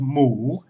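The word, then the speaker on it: หมู: And for this example, I'm just going to use the Thai word for pig, which has a basic sound of mu, M-O, long oo, but it needs to be pronounced with a rising tone.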